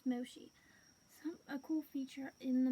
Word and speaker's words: Moshi: the Moshi game yeah going to say marshy because of the way it's spelled but yeah it's pronounced Moshi a cool feature in